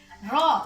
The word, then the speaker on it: Rho: Ditulis dalam sebuah persamaan P sama dengan Rho, bacanya ini Rho, massa jenis, kali G gravitasi kali H ketinggian.